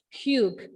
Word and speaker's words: Hugh: I would like to pronounce the second character's name as Hugh. Okay, Hugh. Hugh.